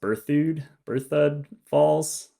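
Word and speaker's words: Berthoud Falls: I think it's pronounced Berthud Falls.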